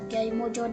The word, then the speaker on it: Kyai Maja: agama Surakarta yang bernama Kyai Maja atau Kyai Mojo dalam pelafalan Jawa ikut bergabung ke pasukan